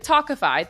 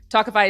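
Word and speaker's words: Tawkify: feel your best when meeting new people with tokify that's spelled t-a-w-k-i-f-y you'll feel confident that you're meeting someone special who is picked just for you talkify is the country's number one modern matchmaking service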